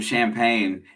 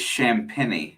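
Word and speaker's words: Champagnie: sunday so his name i called him champagne is champini is how it's pronunciated yeah st john's did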